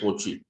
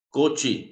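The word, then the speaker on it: Cauchy: 4x y igual n y se pronuncia el coche coche como cochino pero prácticamente ya entonces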